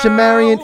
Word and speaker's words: ShaMarian: here hi um so my name is actually shamaran I'm just butchering names tonight what's up but